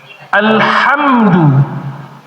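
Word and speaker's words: الْحَمْدُ: Nah, itu kan ada desahnya. Alhamdu. Ketika kita nyebut alhamdu itu artinya segala puji. Pujian alhamdu. Kalau kita ringankan alhamdu maka maknanya akan berubah menjadi kematian artinya.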